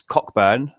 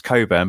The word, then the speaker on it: Cockburn: Yeah, see as Damian Cockburn or obviously it's Coburn but how they choose to pronounce it in the movie.